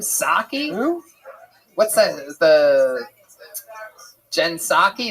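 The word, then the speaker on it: Psaki: Jen Pasaki. What's that chick's name? Saki. What's that? The Jen Saki. Is that how you say it? You don't say the P at all.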